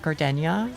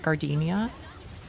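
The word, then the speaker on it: Gardenia: They pronounce it like Gardenna instead of Gardinia.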